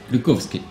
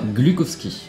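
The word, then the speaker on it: Глуховский: Métro de Métro 2033, alors de Dmitri Glukhovsky, ça se prononce comme ça. Je suis russe. Bravo. Glukhovsky. Glukhovsky. Glukhovsky. C'est comme glucose, mais sauf que tu dis koski là.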